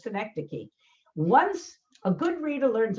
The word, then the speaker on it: synecdoche: i'll tell you what the word is it's synecdoche so if i say to you now and